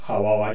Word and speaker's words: 하와: 이 원어 히브리어에 있어서 그 원어의 발음법은 하와입니다.